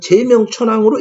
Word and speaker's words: 제명 천황: 그러면은 제명 천황이 있습니다 이것은 제명 천왕으로 읽어야 할 것입니다 지금 일본인들이 말하는 사인회의 덴노 이렇게 읽으면 안 될 것입니다 그래서 여러분께 제안합니다 향과